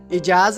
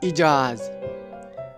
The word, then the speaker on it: Ijaz: होंगे आज की हमारी वीडियो का मौजू है इजाज नाम का मतलब लकी नंबर लकी पत्थर लकी